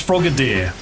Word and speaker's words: Frogadier: Is frogadier pronounced as frogadier or frog? It's frogader.